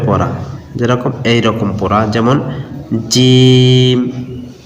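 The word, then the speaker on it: ج: তারপরে জিম, জিম শক্ত, জিহ্বার মধ্যখান তার বরাবর উপরে তালুর সঙ্গে লাগাবেন, জিম জিম জিম, এরকম করে আলিফ বা তা সা জিম।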